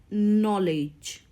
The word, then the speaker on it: knowledge: read this word it's knowledge knowledge here K is silent and W is also